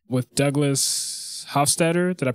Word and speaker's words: Hofstadter: With Douglas Hofstadter, did I pronounce that? Hofstadter, right?